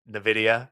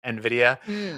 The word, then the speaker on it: Nvidia: gonna say something that until recently I mispronounced that for months I just could not get around it I would say Nvidia it's Nvidia uh Diaz jackn biibs